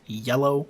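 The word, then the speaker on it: Yelough: I think it's a play on words because yellow, like the frenzied flame, and they just spelled it different. And it's pronounced yellow, though.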